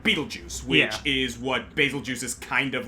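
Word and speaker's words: Bazelgeuse: can can agree on how to pronounce basil juice. Basil juice. Uh, I've heard basil juice, basilgeist, uh, basil geese. Um, I'm not a Monster Hunter player, but I like the sound of basil juice.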